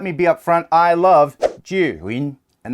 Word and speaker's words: Zhiyun: be upfront I love Julie and that's how you say it in Chinese at least my American tongue says Chinese words that way the first word jew' means wisdom win is cloud in Chinese so there you go